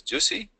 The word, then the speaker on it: UC: And here I took an example with an SSID called UC, pronounced as Juicy.